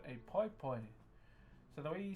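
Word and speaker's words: paepae: Okay, so what I'm currently carving is something called a pai pai. So the way you spell that word is P-A-E, P-A-E, and you normally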